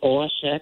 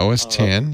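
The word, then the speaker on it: OS X: It's a ISX or OSX or something. Yeah, OS 10. Yeah. And they call it Mac OS now because nobody pronounced it right.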